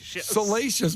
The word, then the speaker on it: salacious: She's 34 years old after families reported her salacious, right? Salacious? Salacious behavior. Salacious doesn't rhyme with delicious.